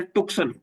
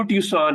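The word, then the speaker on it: Tucson: सी एस ओ एन इसका जब आप पढ़ते हैं तो ल ऐसा लगता हैसे टक्सन एक्चुअली वो टन है क्या है क्या है टन मैं टन शहर में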